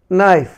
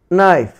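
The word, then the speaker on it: knife: তাহলে এখানে দেখলে এন এর পূর্বে, প্রতিটি এন এর পূর্বে কে ছিল, কিন্তু তার উচ্চারণ হয়নি।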